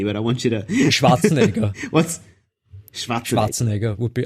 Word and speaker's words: Schwarzenegger: I mean, you've said it twice already, but I want you to Schwarzenegger. What's Schwarzenegger? Schwarzenegger would be Arnold Schwarzenegger. Okay, cool. There you go. That's the official Austrian pronunciation of Arnold Schwarzenegger.